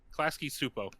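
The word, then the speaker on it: Klasky Csupo: How do you pronounce that? Klasky Supo.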